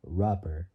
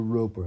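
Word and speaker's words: Roper: one by driver Jim Rober or roer I don't know how to pronounce it but it's spelled it's like saying the word rope but but adding the letter r at the end when Glenn with a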